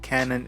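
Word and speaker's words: Kannon: I can't pronounce it, but it's pronounced canon in Japanese.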